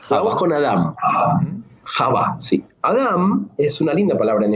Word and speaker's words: Adam: En el hebreo original se pronuncia con M de mamá al final, Adam. Es como que si vos le decías a Adán, no se daba vuelta